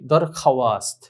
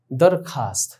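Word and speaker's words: درخواست: তো আমরা স্বাভাবিক যদি ওয়াও এর উচ্চারণ করতে যাই, আমরা স্বাভাবিক অর্থে বুঝি দরখাওয়াস্ত, আমরা মনে করি যে এরকম মনে হয় উচ্চারণ হবে, না দরখাস্ত। তাহলে খে আলিফ বললেই তো হয়ে যায়, ওয়াওটি লেখায় আসছে কিন্তু ওয়াওটি উচ্চারণে আসেনি।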